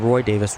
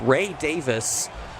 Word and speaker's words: Ray Davis: I mispronounced his name earlier. I called him Roy Davis. Ray Davis.